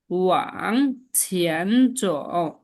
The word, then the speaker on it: 往前走: Wang Wang ছিয়ান যাও, 往前走往前走， যেটির উচ্চারণটা চ দ্বারা মাঝামাঝি, ঠিক আছে? চটা একটু বেশি বেশি শোনা যাবে। ওয়াং ছেন চ, ওয়াং ছেন চ, ওয়াং চ, চ, 往前走， ওয়াং ছেন চ, ওয়াং ছেন চ।